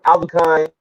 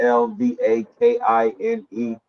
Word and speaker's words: Alvakine: Yo, it's Alvakine. It's spelled the same way I say it. It's Alvakine.